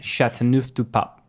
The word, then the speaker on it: Châteauneuf-du-Pape: Châteauneuf-du-Pape. Okay. Yeah, that's what we learned from the internet today. Is it was called Châteauneuf-du-Pape. No, it's actually pronounced Châteauneuf-du-Pape.